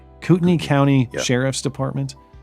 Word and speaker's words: Kootenai: Is it Kootenai? Kootenai County Sheriff's Department. Why is there an AI in there and it's pronounced E?